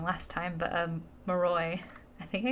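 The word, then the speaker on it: Moroi: last time but um moroy I think I I think I called the Mory in my last episode it' been a while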